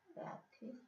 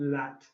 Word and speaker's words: latest: Latest. Yeah, you're doing ah. This should be a long A sound. Latest. Not lat.